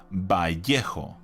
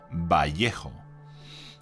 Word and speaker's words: Vallejo: That's how you say it. Vallejo. That's the name in Spanish and how it is correctly pronounced. I will repeat it once more. Vallejo.